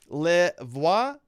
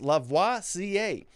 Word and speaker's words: Lavoisier: Also, the handle is pronounced Lavoisier, as in the famous chemist, Lavoisier.